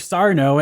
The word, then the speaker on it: Sarno: Sarno, and every time they said his name, which they say like 30 times in this movie, I wanted to say, no, Mr. Accent on the no.